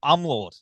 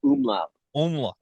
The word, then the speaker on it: Umläut: we were talking about I'm Lord is that how you pronounce it the the project no it's a little more with a double O to the m it's like a umla okay yeah and again